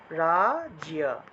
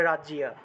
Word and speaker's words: রাজ্য: দিতে পারেন ঠিক আছে তাহলে এভাবেও লেখা যায় রাজিয়া এই যে রসইয়ার পরিবর্তে রসইকার ব্যবহার করলাম আর অন্তস্থ তাহলে রাজিয়া উচ্চারণটা হবে রাজিয়া ঠিক আছে এভাবে রাজ্য শব্দটাকে আমরা রাজিয়া হিসেবে উচ্চারণ করব অর্থাৎ জফল